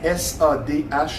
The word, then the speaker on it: Sadhguru: Ça s'écrit S-A-D-H-G-U-R-U, Sadhguru.